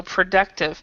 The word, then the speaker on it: productive: So productive. So this one, the O here is kind of like a schwa. If you guys know schwa, schwa is a sound. Productive. So productive.